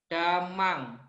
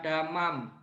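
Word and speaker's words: dhammaṃ: Ingat ya, Damang, bukan damam.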